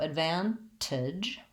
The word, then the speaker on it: advantage: So advantage, we do say the T sound in this word with an aspirated T, advantage.